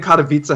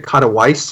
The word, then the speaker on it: Katowice: like every time I am Katowice happens, I always hear someone say Katowice, and I'm like, oh yeah, that Rotterdam.